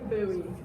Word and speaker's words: Bowie: Instead of Bowie, they substituted a B for the W.